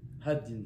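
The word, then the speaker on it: הדין: Haddin. Haddin. He, Dalet, Yud, Nun. En français, ça s'écrit H-A-D-I-N.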